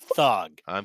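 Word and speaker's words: Thuggee: He was OG gangster, and I do apologize because the word thug does come from India, and it's actually pronounced thugi, and it's talking about radical thug occultists that would go around and beat people to death.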